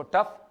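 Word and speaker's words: tough: ये क्या बोलते हैं अपन बोलो टो या टफ क्या बोलते हैं इसको टफ यजीएच ओ यू जी एच भी आपका फ का साउंड देता है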